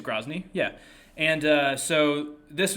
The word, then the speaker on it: Grozny: uh let's start with grozny i hope i'm pronouncing that correctly i i don't hear the name very much i see it in print more often but i i think it's grosney yeah and uh so